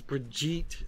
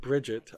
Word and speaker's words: Brigitte: how OverWatch it added apparently it's Brigitte not Bridget I kept saying Bridget and then I heard somebody else pronounce it and I'm like oops whatever but yeah we